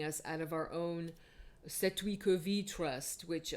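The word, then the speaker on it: cestui que vie: out of our own Setwikovi Trust, which a lot of Americans mispronounce as Sustakavi Trust. You might have heard of it, but it's Old French. It's Setwikovi, and I've spoken about that on my podcast several times.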